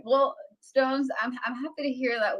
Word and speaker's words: Stonez: I feel like I've been it's Stones. It's not Stone Z, by the way.